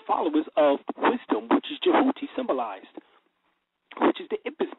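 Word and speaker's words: Djehuti: Matter of fact, the word Tahuti, when it's actually is said, coming from the Metuneter, or the Metuneter, it says, is pronounced Jehuti. Jehuti. And it's spelled D-J-E-W-H-U-T-I, or T-Y.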